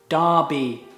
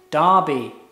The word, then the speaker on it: Derby: It looks like Derby, but it's pronounced Derby. Derby.